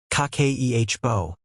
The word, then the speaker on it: Kakeibo: It's called Kibbo, pronounced kake ehbo, and it literally translates to household financial ledger.